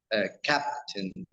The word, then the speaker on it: captain: The first syllable is stressed, captain.